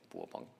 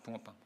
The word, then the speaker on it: 붕어빵: I say it wrong every time. 부어빵. 예, 맞아요. 붕어빵. We're all going to be 부어빵.